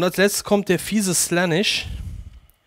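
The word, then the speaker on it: Slaanesh: letztes kommt der fiese slanis slanis amerikanisch ausgesprochen slanis erhalte drei Siegespunkte ein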